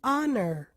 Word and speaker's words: honor: Porque eu falei para vocês, alguns poucos casos o H não tem som de como em hotel, mas é mudo, como em honest ou mesmo hour. Vamos ouvir? The honor, the hours.